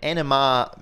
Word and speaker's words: NMR: to it as uh rather than n mrr just sort of one syllable as NMR I've got a lot